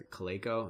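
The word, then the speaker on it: Calico: Google X company called it's a clay Co that's how you pronounce it but their sole mission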